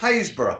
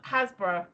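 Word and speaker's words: Happisburgh: not the franchise bug no it's not it's pronounced haysbrough i was going to say i was going to say um hasbro i know it's trunant haysbrough hey they've got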